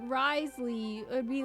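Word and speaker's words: Wriothesley: Because it's Rio Thessaly, so it's like Risley.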